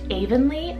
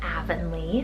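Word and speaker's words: Avenlee: So this next one here, you can kind of pronounce it two different ways. You can do Avonlea or Avonlea, spelled A-V-E-N-L-E-E.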